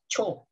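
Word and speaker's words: ちょ: Jadi shi ya bacanya sha. Jadi lebih dilengkap dan chi sama yo jadi cho gitu ya.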